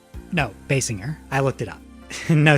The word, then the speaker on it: Basinger: Basinger? No, Basinger.